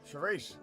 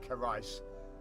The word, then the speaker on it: Charisse: Charisse. This is where it's gonna say some dumb shit like her name's pronounced Carice. Because I'm 90% sure that that's supposed to say Charisse.